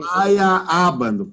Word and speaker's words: Feyerabend: Feyerabend. Pense assim. Andar com fé eu vou, café não costuma falhar. Pronto, em vez de falhar, é falha. Feyerabend.